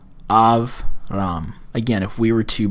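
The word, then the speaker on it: אַבְרָם: want to know is a Shiva is silent if it occurs after a short vowel. If it occurs after a short vowel. And that would be the case here. Av, ram. Av, ram.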